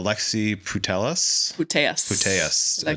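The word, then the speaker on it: Alexia Putellas: Uh Alexi Putelus Pas L right there. Okay. Two-time Ballooner feminine best FIFA women's player. Did I say it wrong? No, you're good. You're good.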